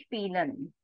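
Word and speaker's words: spielen: as Vel eari ZZ spelen spelen means to play so you cannot pronounce it as fil because then nobody would understand it is spel ie combination the sound will be e coming for forward to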